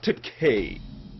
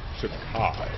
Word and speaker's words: Takei: George Takai. Not Takei, Bill. Pronounced Takai.